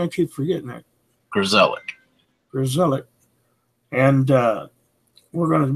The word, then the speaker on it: Grzelak: Grzelak.